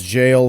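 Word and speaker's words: gaol: Like the g a o l is jail for old English jail, obviously.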